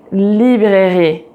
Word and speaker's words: librairie: So for example, like rue, rue, librairie, librairie, pharmacie, pharmacie. And also pay attention to, for example, petit, petite, grand, grande. So every time you see this letter at the end of a word, it's never pronounced and you stop at